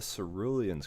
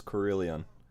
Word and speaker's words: Cerulean: to this brilliant ground that's it's karelian korean that's cerulean i don't know why brilliance